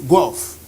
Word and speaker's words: Guelph: is written g-u-e-l-p-h and the ph is pronounced as an f gulf the guy said where